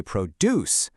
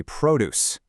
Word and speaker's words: produce: When produce is an action, a verb, we say produce. But when it's a thing, a noun, we say produce. The only difference is which syllable you put the stress on. It's this tiny little shift in sound that completely changes the meaning.